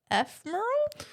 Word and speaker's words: ephemeral: Ephemeral?